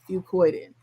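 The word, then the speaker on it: fucoidan: It's spelled fu c o i d a n. Fuccoidin.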